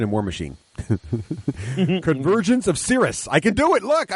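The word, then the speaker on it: Cyriss: Oh, is that the real pronunciation? That is the correct pronunciation. Ah, I thought it was Chris.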